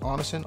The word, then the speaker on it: Onixan: It's pronounced Onnison, O-N-I-X-A-N. And for those who missed it in the other video, got it trademarked.